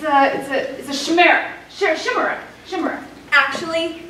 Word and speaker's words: chimera: Chimera. Actually, it's pronounced chimera.